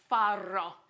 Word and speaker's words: farro: a whole grain called farro with two RS gentlemen far very good the more you roll your RS the more you love farro so farro is an